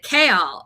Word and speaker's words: Chaol: But Chaol, everyone was saying Cole, and it's Kaol, and we're like, why?